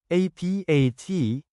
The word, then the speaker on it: apat: APAT is number 4 in Bicol. Change A to AH, then pronounce it as Apat.